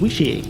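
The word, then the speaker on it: wicce: I think it's pronounced wishy, which is spelled W-I-C-C-E, which actually means wise woman.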